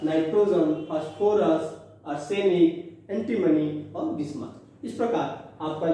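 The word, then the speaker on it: Bismuth: पापा phosphorus, Aslam as arsenic, सब antimony, और बीमार बी आई बिस्मथ। प्रोनाउंसिएशन में कुछ लोग बिस्मिथ भी बोलते हैं, है ना, तो बिस्मथ।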